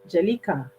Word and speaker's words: Jelika: Jelico. Is it Jelico or Jelika? Jelika.